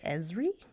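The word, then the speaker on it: Esri: resource I thank you pronounce it Ezri es RI it'll be in the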